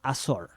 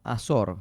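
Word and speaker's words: Azor: tema que es una película nueva, se llama Asor. ¿Cómo se escribe? A Z O R. Ajá. Asor.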